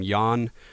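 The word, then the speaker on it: Jan: And uh and again I believe you pronounce his name Yan um Yan or um and I'm sorry dude if I'm if I'm saying your name wrong but uh as far as what I understand how you how you pronounce J an um and his his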